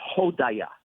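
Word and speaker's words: הודיה: And the word for Thanksgiving in Hebrew is hodaya. That's how you say it.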